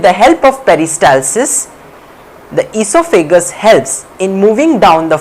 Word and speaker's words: esophagus: now coming to the esophagus or the food pipe esophagus or the food pipe o is silent hair in esophagus it